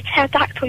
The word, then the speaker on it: pterodactyl: Why can't you hear a pterodactyl using the bathroom? I don't know. Because the P is silent.